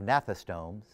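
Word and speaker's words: gnathostomes: You don't pronounce the G when you have nathostomes.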